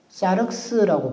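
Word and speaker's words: σάρξ: 여기서 살이라고 한다면 사륵스라고 부르거든요. 사륵스 발음도 비슷하죠.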